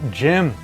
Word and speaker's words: Gem: a lot better on a PC no you pronounce it gem when I first saw them running on this